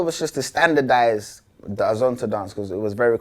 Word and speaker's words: Azonto: Did I say it right? You did, with an American accent. Yeah, I tried. But we say Azonto. Azonto.